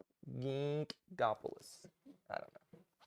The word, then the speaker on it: Ginkgopolis: i can pronounce it gingopoulos ginkgopolis i don't know how do you say it god bless no you didn't pronounce the g yes i did it's soft yeah backwards ginkopoulos ginkopoulos